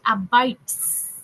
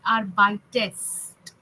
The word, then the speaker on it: arbeitest: Okay, do, however, the conjugation is not st aber ast. So do is nicht arbeits, okay, it is arbeitest.